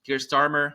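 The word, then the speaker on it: Keir Starmer: and now you see gear starmer that's the right way to pronounce his name in the UK dig in the Netherlands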